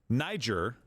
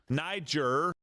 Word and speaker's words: Niger: one again today um I didn't know how to properly pronounce this country's name until and I just said Niger no Niger honestly I had to